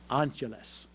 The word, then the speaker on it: Angeles: I could see by the name tag on above his left breast pocket that his name was, I learned, as he pronounced it, Angeles.